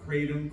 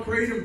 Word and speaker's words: kratom: So you have coca leaves, kava, and how do you pronounce the K word? Kratom, kratom.